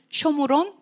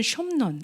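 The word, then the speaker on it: שומרון: 우리가 사마리아의 히브리어 네임이 쇼므론 또는 숑론 이렇게 발음해요.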